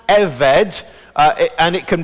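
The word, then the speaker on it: עֶבֶד: that big word in the middle and it's pronounced eved uh and and it can be written now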